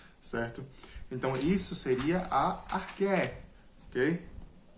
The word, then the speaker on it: arché: Eu vou falar arché, eu acredito que a pronúncia seja essa.